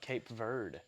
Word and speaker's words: Cape Verde: Would be rooting for them, which that's how you pronounce it, by the way. I looked it up. Cape Verde. It's Verde, yes.